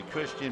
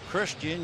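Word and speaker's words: Cristhian: looks like a misprint Christian you would think would begin C well with this Martinez it's c i then the H it's almost like you have a list when you pronounce it he's from the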